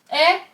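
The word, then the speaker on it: 의: should sound like ui, when it's at the end of a word, it's pronounced as 에 and it shows possession.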